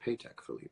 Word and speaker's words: Patek Philippe: Patek Philippe. Is that true? It's pronounced Patek Philippe.